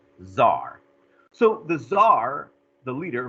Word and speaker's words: czar: czar is funny because it could be spelled with a c or like on the handout how do i spell the word czar with the t either way it's actually still pronounced czar so the tsar the